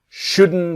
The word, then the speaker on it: shouldn't: And the T is silent. You shouldn't buy it.